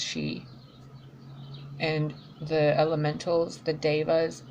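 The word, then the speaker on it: sidhe: and she s idha it's spelled CID like s idhe but it's pronounced she and the elementals the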